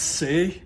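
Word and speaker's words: 四: And the reason why they don't use the number 4 is because 4 in Chinese is pronounced sei, means to die.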